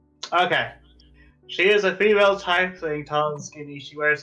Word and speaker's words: tiefling: She is a female tiefling, tall and skinny.